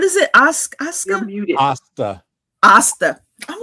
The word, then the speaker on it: Asta: James, how do you pronounce? I keep saying it. Asuka. Isekai. No. James said I would not like it. What is it? Asuka? You're muted. Asta.